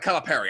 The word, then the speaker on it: Calipari: And I'm sorry for bringing this guy up, Neil, but John Calipari has to be in the dishonorable Calipari, because Calipari. Calipari. I'm sorry, Calipari. Come on, he's Italian. You got to say it right.